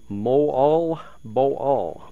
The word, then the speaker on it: Moalboal: from Mo and uh I've said that wrong for a long time and people keep correcting me they didn't understand what I was talking about Mo all Bo all they pronounce all the words all all the letters pardon me and uh